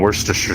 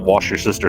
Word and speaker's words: Worcestershire: funny i've heard it i've heard that pronounced so many different ways there was even there was even someone who called it wash your sister sauce oh my god all